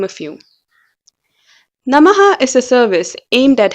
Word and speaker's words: NMH: and thus a happier community the name is pronounced as namaha which is a common word used in vedic